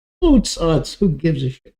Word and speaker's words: Oots: Actually, it's pronounced Oots.